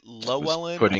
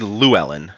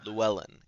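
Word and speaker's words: Llewellyn: Is it Lelen or is it Yoelen? It's actually Luwellen. Llewellen. Gotcha. Loan. Yeah, it's Welsh by origin.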